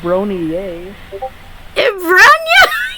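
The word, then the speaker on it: Bronya: yeah her name is Bron her name is Bron y Bron that's how you actually pronounce it yeah Bron A's Bron okay okay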